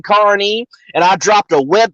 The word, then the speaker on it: Kearney: this dude from the mayor of kearny saying carney and i dropped a web the the actual